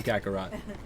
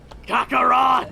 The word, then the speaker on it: Kakarot: I'm calling him Kakarat. Kakarot.